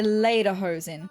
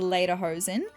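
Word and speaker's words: Lederhosen: I just need to know how to pronounce it. Okay, so they're later hosen. I'm so sorry for pronouncing them incorrectly this entire video, but I was correct.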